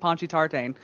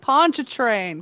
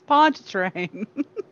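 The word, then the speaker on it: Pontchartrain: that anchor said and he pronounces it ponchi tartane oh goodness it's ponchatrain come on guys it's ponch train i mean when you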